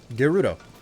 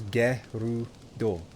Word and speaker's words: Gerudo: If this is a Japanese game, shouldn't it be pronounced... Gerudo? Yeah, Gerudo. 3 syllables. Gerudo.